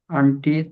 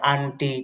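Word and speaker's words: aunt: রাকিবুল ইসলাম ভাই, তো এখানে আমরা যেটা বলি আঙ্কেল, তারপর হচ্ছে আন্টি, তো এগুলো উচ্চারণটা হচ্ছে এখানে আপনার সঠিক উচ্চারণটা হচ্ছে, এখানে বলতে গেলে হচ্ছে আঙ্কল, আঙ্কল, আন্ট, আঙ্কল।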